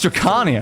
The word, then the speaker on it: Drakania: Oh, it's Drakania, not Drakania.